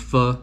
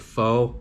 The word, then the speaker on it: pho: The dish is called pho, and there's a crown on it, so it's pho king. I know a lot of people pronounce it pho, but it's yeah, it's pho. Thanks, Al.